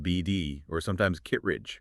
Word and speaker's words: Bd: Yeah, most people just call it build, pronounced BD, or sometimes Kittridge.